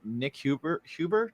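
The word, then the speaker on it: Nik Huber: But then I saw that like you were using, I don't know if you're still using it, but you're using the Nick Huber.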